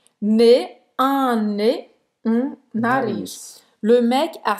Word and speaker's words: nez: Não pronuncia o Z, tá? Ne, un nez, nariz.